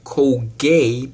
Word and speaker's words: Colgate: Colgate or I purchasing Colgay, because there is a country that speaks English and French. T is silent in French, so I was purchasing